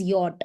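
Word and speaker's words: Jot: This is not J. This is yacht. Okay. And this symbol is always pronounced like Y in a word.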